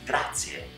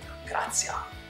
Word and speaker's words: grazie: Let's take it as an example, the word grazie, spelled G-R-A-Z-I-E. Grazie, thank you. It's not grazie, it's not grazia, it is grazie.